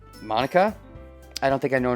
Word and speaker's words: Monika: name at all yeah it's not mon ika it's monica also that joke makes